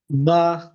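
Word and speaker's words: باء: বা এক আলিফ টান জাস্ট, বা।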